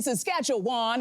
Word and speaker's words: Saskatchewan: I did not know that you don't say Saskatchewan, you say Saskatchewan. Yes. And so I was on the air in their city going, and in Saskatchewan, and they were like, please.